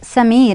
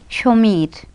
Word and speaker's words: Sameer: Yeah, but in Bengali we will say Shomeer. Shomeer. Okay, so that means it is sh. Not, yes, sh, not the sir.